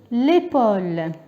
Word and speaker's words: épaule: الآن هنا عندي هذا l'épaule الكتف. Ça c'est les pas. Pour avoir le O, je dois rajouter le U. Ça me donne l'épaule.